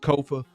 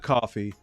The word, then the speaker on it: Kofa: I am your host, Kofa, Kofa, not coffee, not Kufu, not Kofi, or any variation thereof. Kofa rhymes with sofa.